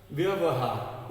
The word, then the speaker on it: व्यवहार: व्यवहार, ये व का, इस व का पूरा उच्चारण करना है, लेकिन जो पहला वाला व है ये आधा है।